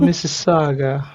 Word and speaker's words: Mississauga: It's called Mississauga. Mississauga, Mrs. Canada. Hmm. Oh, he even now put it in bracket, pronounce Mississauga.